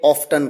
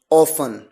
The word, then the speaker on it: often: मेरा अनुभव है, ब्रिटिश कस्टमर्स के साथ मैंने कई बार बात की, वो अक्सर ऑफ्टन कहते हैं, और American people they use ऑफन एज a pronunciation. So it depends. However, we always follow the neutral accent, and that is from the British accent. So I would recommend to use often instead of often.